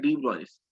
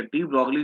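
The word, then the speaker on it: de Broglie: अब कुछ लोग थे जिसमें कि सबसे बड़ा नाम आता है डी ब्रॉयस, ठीक है, डी ब्रॉगली जिसको भी हम लोग ऐसे नाम बोलते, गलत है वो प्रोनाउंसिएशन।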